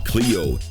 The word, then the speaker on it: Clio: Calliope, Clio, and Euterpe. Yeah, that's how you pronounce them.